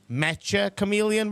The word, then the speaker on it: Mecha Chameleon: Do you know it's actually pronounced Meta Chameleon, by the way? That's uh confirmed by the developer.